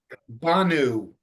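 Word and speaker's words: בָּאנוּ: And I noticed in the word come, it's always, you pronounce the first syllable ba, stress that as opposed to the last syllable, is that right? Yeah. Banu, we came.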